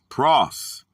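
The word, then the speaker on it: πρός: The word for them is going to be the Greek word pros, pronounced pros, a strengthened form of Greek number 4253, a preposition of direction.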